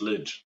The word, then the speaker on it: Lij: how do you pronounce it no you actually pronounced it correctly it's lidge look at that sometimes you can strike a